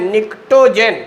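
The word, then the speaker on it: pnictogen: 15वें group का नाम है निक्टोजेन, पी साइलेंट है, निक्टोजेन। तो 4 नाम याद हो गए।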